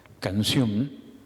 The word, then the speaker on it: canción: acentuación determinada por ejemplo canción se acentúa en la última sílaba y le damos énfasis cuando cambiamos el acento estamos alterando el valor de la palabra si nosotros decimos canción estamos deformando esa palabra entonces no nos llega